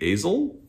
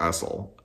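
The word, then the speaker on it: Asle: It's spelled A-S-L-E. I'm going to say Azel, but I don't know if that's correct.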